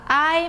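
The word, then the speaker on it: 爱: O ideograma amor se fala ai, mas é quarto tom, tá bom?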